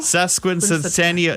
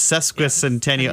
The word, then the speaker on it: sesquicentennial: If I'm even pronouncing it right, sesquicentennial. Sesquicentennial. Yeah, see, it's sesquicentennial. It's too many S's and C's in a row that don't belong there.